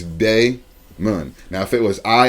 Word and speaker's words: Daimon: bro she put okay my name is spelled d-a-i-m-o-n and when you look at it it's like damien but now it's day moon now if it was